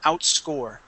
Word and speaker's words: outscore: word one more time outscore out outscore okay so the accent's going to be out on the end of the word so saying outscore out